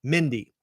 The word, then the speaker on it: Mindy: I may have said Misty. It's Mindy. Shout out Mindy.